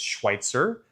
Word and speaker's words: Schweitzer: Then you have our ski mountain which is Schweitzer Mountain Resort. It's Schwitzer. Again, that's not mispronounced too often, but some people struggle with it. So again, the mountain is Schweitzer.